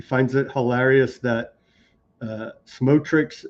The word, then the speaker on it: Smotrich: Denver says personally uh he finds it hilarious that uh Smotrich's name sounds phonetically the same as smoke trick.